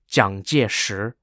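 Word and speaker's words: 蔣介石: three-part series I'll be referring to him as zhangjir the Mandarin Chinese pronunciation of his name to help you all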